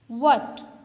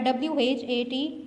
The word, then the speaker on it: what: जब आप बोलते हैं what, here the spellings are WHAT, what. W is pronounced as वो, AT, at. हेज कहाँ गया? हेज को हमने ह तो प्रोनाउंस किया ही नहीं, हम इसको व हैट